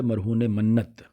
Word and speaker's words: مرہون منت: اس کا تلفظ ہوتا ہے مرہون منت. ہم عام طور پر اس کو مرہون منت پڑھ رہے ہوتے ہیں. ٹھیک ہے. تو یہ مرہون منت نہیں ہوتا بلکہ یہ مرہون منت ہوتا ہے.